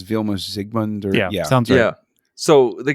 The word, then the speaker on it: Vilmos Zsigmond: Uh Vilmos Zsigmond, I think the Z is silent. I think it's Vilmos Zsigmond or yeah.